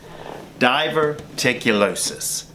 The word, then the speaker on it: diverticulitis: all-american burger pizza grilled cheese sandwich hmm diverticulitis that's how you say it guys I know earlier in this episode I really butchered the pronunciation of diverticulosis but hey cut